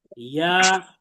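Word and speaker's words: ي: তাহলে খেয়াল করেন, জিহ্বার মধ্যখান তার বরাবর উপরের তালুর সঙ্গে লাগিয়ে উচ্চারিত হয়। তাহলে এই যে জিহ্বার মধ্যখানটা আমরা দেখতে পাচ্ছি, এটাকে উপরের তালুর সাথে লাগিয়ে আমরা উচ্চারণ করব।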